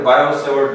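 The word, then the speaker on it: Biot–Savart: Biot को थोड़ा यहाँ पे साइलेंट रखते हैं, नाम तो लिखा है बायोट के नाम को बायोट नहीं बोलते, बायो-सेवर्ट लॉ।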